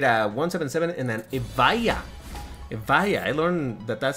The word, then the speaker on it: Evija: Evija, I learned that that's how you're supposed to pronounce that.